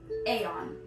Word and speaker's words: Aeon: I don't know how to explain this other than you got the word on, like you're on top of something, but you aren't. An A is on top. Aeon.